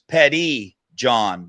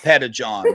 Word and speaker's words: Pettijohn: And subscribe don't forget the last name is petty John not P John we got to start